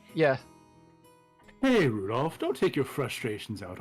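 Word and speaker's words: Rudolf: That mess of a character is pronounced Rudolph. Like the red-nosed reindeer.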